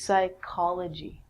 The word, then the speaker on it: psychology: of the mind and actually we say this like a que so this is psychology with the silent p the next one is